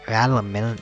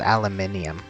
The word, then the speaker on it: aluminium: do you pronounce it there's aluminum and then there's aluminium i said it as aluminium it's supposed to aluminum i think it's supposed to be harder than aluminium but clearly not for me